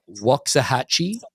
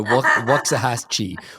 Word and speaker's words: Waxahachie: this wrong because of my accent of course wah Hatchi oh you did it very well you've been practicing we go wah hatche wah haki oh geez okay I had a